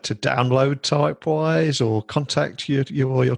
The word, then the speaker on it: Typewise: play store type in typewise and like you will find it so it's spelled as it is pronounced um to follow our